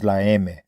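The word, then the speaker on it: La Eme: The influence of the traditional mob was evident to members of the Mexican mafia, also known as laame, the phonetic pronunciation of the letter M.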